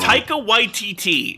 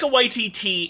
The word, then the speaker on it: Taika Waititi: I could be pronouncing it wrong. Taika Waititi. Yeah, he was involved with The Mandalorian and with the vampire thing. That's also kind of hilarious. So Taika Waititi is a Maori New Zealand man who has